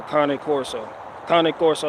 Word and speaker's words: Cane Corso: So Cane Corso Italiano, or some shit like that. It's like carne asada, but without the R and carne, so it's just Cane Corso.